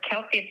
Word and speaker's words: kelpie: And I'm thinking some kind of a seahorse, Kelpie themed, like it rhymes with the kelp.